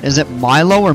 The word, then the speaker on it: Milo: It's pronounced Milo.